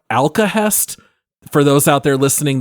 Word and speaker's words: Alkahest: an upcoming firstperson medieval fantasy action RPG called alcahest for those out there listening that's spelled a l k a h e s